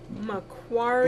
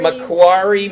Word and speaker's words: Macquarie: lenny it's how do you say it again macquarie macquarie mortgage m-a-c-q-u-a-r-i-e mortgage she's in lenny you guys